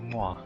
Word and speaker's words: mwa: The way you pronounce mwa is it it's kind of like you're blowing a kiss like a moa.